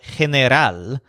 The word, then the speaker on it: general: simple plain common version is called Henner al spelled exactly like the word general in English and it means general but remember to stress the last syllable at all which might